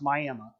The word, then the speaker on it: Miami: That is an issue so where I grew up in Old Town, spelled like Miami, Florida, but it's pronounced Miami.